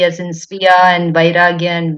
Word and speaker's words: स्वीय: But in Sviya, the next vowel is E, the dirgha E, the sound E. So that is why there we have Sviya.